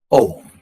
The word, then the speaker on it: Om: drops tasya vachakah prannavah om the sacred syllable in this syllable om there are three sounds A', 'U' and 'M' – AUM.